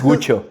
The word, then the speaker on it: Guccio: Es que es Guccio, es Guccio Giovanista Giacinto Dario Maria Gucci.